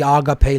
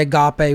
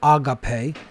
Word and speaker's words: agape: They say Agape when it should be Agape. There's, different, inflection points or emphasis that should be placed on certain syllables.